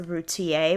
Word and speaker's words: Routier: mother named darley uh i've heard her name pronounced two different ways one was a routier one was routiere i'm going to say routier because it sounds better to me a mother named